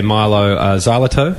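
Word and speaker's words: Mylo Xyloto: congratulations on the album um I hope I'm pronouncing it correctly when I say Milo zal perfect great um we obviously we know what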